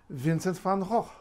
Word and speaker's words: Vincent van: V when it's voiceless V is like English VA only maybe it's not quite as strong v v so Vincent Vincent that's how you say it in Dutch Vincent and Van van or together Vincent van because remember the V becomes f after that t oh but here's the